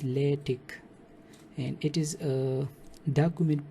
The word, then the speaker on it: LaTeX: So it is actually pronounced as LaTeX, and it is a document preparation system to produce some professional looking documents.